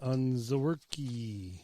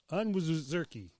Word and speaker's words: Onwuzurike: So Levi Onwuzurike. Onwuzurike. Okay. Beef jerky.